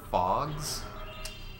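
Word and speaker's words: Phogs: the other day uh it's called fogs it's it's spelled p-h-o-g-s and imagine if there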